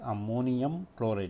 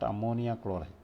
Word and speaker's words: ammonium chloride: You must pronounce it as ammonium chloride, not ammonia chloride.